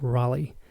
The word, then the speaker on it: Raleigh: in Raleigh North Carolina where's that pronounced Rolly Rolly yeah probably don't wanna alright